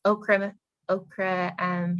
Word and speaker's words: ochre: Oh yeah, that's Okra Hills. Okra Hills. Yeah, it's spelled very strange. Yes, ochre.